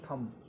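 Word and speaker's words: thumb: यहाँ ये B silent है। टी एच यू एम बी थम, इसको थम बोला जाता है, थम माने अंगूठा।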